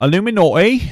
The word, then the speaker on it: Iilluminaughtii: to be ignorant but when Americans say it in their accent like Illuminati that's what it's pronounced correctly Illuminati Illuminati sounds really similar